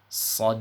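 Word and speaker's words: ص: ini yang pertama adalah pastikan dalam mengucapkan huruf sofirnya ataupun dosisnya telah bunyi terlebih dahulu dengan cara menebalkan bunyi desisnya ya Bunyi desisnya harus terdengar tebal tidak sama dengan bunyi desis pada huruf Sin Jadi huruf shod itu cara menebalkan dosisnya yaitu dengan cara mengangkat pangkal lidahnya ke atas seperti itu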